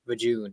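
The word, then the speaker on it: Vjun: And Kyle Katarn and everybody in Jedi Academy says Vijun.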